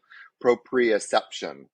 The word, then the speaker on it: proprioception: to you might have to remind me probe proprioception yeah you said you said it right yeah